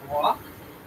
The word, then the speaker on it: Roc: Okay, it is a rock. Aroson. Cool. Yeah. These ones, however, this one that you encountered is a baby, not fully grown, because rocks, ROC, these creatures can grow to be gargantuan in size.